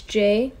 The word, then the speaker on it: Jey: j j e y i know most people hear j and they think j a y but my name is spelled with a j e so i'm kind of switching it up a little bit so hey it's j